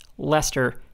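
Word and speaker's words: Leicester: just so we're clear the country that pronounces this lester has no moral high ground on phonetically literal pronunciation after a couple more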